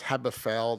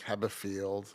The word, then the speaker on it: Haberfeld: But it's always easy to get my name wrong because it's Haberfeld and people think Haberfield.